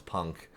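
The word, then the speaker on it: P&WK: called p&w K records which we pronounce Punk uh Punk records uh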